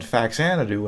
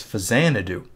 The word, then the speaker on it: Faxanadu: But then I was pronouncing it Faxanadu, and really it's Fazanadu.